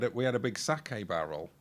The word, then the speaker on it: sake: We had a We had a big sake barrel, which is but one letter different from cake, but pronounce it. Yeah. Yeah. Yeah. It's not You don't pronounce it khake?